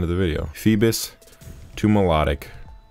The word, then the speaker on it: Milotic: the video phoebus to melodic or Milotic I don't know why you would pronounce like that it's like melodic it's like a song right melodic got the